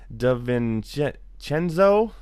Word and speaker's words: DiVincenzo: DiVincenzo, the Villanova shooting guard.